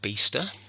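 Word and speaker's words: Biesta: the work of her beaster it doesn't quite look like it's pronounced like that from the spelling um because he does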